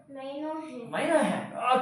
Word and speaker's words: minuend: How to pronounce this word? Minuend.